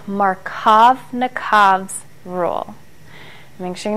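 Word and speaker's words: Markovnikov: this rule is called marav nv's Rule Ru make sure you know how to spell that too I know it's a hard name but you can do it sound it out marov nikov rule okay and you'll find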